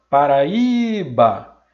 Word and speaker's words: Paraíba: últimas sílabas, coloquei aqui, e na hora de pronunciar a palavra, Paraíba, eu descobri qual é a sílaba tônica. E aí eu vim aqui e destaquei. Já que a sílaba tônica é a penúltima, essa palavra é paroxítona.